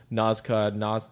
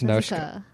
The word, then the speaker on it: Nausicaa: it's pronounced that way is like Nazca, Nausicaa. I always thought it was Nazca. It's Naushka. It's Yeah. Naushka. But most people would be like Nazca.